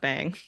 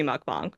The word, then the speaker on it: mukbang: I'm probably offending people I'm pronouncing it wrong but it should be mukbang but for all intens for this film it's mukbang okay well I will